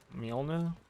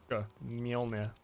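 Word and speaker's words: Mjölnir: The way Nordic languages pronounce J's is so annoyingly weird. It's like Mjolnir.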